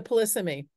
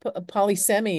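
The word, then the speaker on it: polysemy: to know I mean you might think polyi or something but um how do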